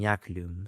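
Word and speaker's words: iaculum: In Latin, the word for javelin became yaklum, spelled I A C U L U M before the appearance of the letter J, pronounced like a Y.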